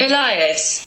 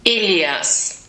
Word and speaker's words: Elias: So the British pronunciation, Elias. and the German pronunciation, Elias.